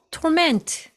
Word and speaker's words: torment: 이 단어는 동사와 명사를 발음할 때 액센트의 위치가 다릅니다. 동사일 때는 torment, torment 이음절에 액센트가 있고요. 여기서 앞에 to가 있으니까 이것은 동사입니다. 자, 그리고 그들의 고문 여기서는 명사죠. 그래서 torment, torment 여기도 마찬가지로 명사 torment.